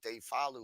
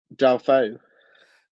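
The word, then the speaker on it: Deulofeu: you're talking about, because I always call him De Falu or De La Fau. How do you pronounce his name? Dalfeu. Dalfeu.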